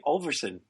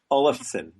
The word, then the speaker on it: Olafsen: Today's guest is Ashley Olverson. And I mispronounced it and I knew I was going to do that. Olison. Olison.